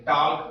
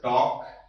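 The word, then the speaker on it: talc: टाल्क पढ़ते हैं, टाल्क। और पढ़ा क्या जाना चाहिए इसको? टॉक। क्यों? क्योंकि यहां पर जो एल है वो साइलेंट है, ठीक है ना?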